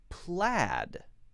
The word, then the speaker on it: plaid: Say said, pay, paid, laid, but plaid.